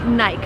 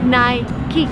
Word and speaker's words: Nike: but that's very American if you travel abroad people would say naik but the right waist night key because this it's just